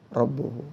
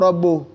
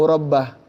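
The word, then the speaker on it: رَبُّهُ: Allah berbicara kepadanya, kallamahu rabbuhu. Tapi orang yang enggak percaya Allah itu bisa bicara, mereka membacanya bukan wa kallamahu rabbuh, tapi wa kallamahu rabbah.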